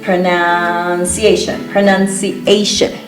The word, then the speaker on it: pronunciation: We change that syllable there, the NU, it's pronounced none. Pronunciation.